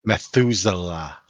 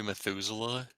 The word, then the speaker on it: Methuselah: Methuselah.